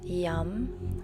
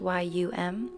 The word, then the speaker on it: yam: the heart chakra is yum spelled y-a-m but pronounced y-u-m yum chanting the sound